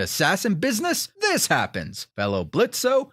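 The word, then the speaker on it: Blitzø: business this happens fellow blitz o the O is silent Jenga says you've done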